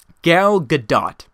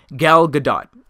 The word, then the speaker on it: Gal Gadot: Gal Gadot, I believe is how you pronounce her name. Gal Gadot is the actress from Wonder Woman.